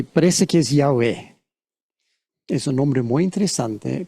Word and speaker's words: Yahweh: Jehová pero no es Jehová es yah yahwe yahve con b es probablemente pronunciación más correcta aunque yo no hablo